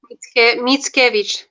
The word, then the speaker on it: Mickiewicz: How do you say his last name? Is it Mikowitz or what is it? Mickiewicz.